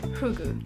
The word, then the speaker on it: Fugu: the answers that stood out was the word fugu. I'm not sure how to pronounce it.